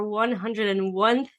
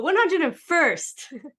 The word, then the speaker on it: 101st: Today's interview for our 101th, is that how you say it, 101th? No, 101st.